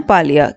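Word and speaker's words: Camille Paglia: एन ए और पैलिया पी ए जी एल आई ए इसमें जी silent है तो इन्होंने बहुत हारशली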